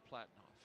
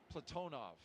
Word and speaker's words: Platonov: Our crew today, Commander Zena Cardman, pilot Michael Frink, JAXA astronaut Kimmy Aayoui, and Ross Cosmos cosminaut Alleg Platinoff. Platonov. I corrected my pronunciation yesterday and I slipped back into crew has commenced on schedule.